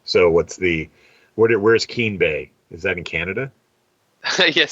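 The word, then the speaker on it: Keem Bay: be continuing to to invest in that so Keen Bay am I pronouncing it right Keen Keen yep and so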